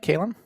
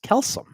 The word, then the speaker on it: Calum: Calum, am I pronouncing this right? Calum?